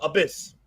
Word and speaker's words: Abyss: don't know I was with confused how to pronounce the Joseph Parker wrestling name oh Abyss Abyss Abyss okay okay thank you but I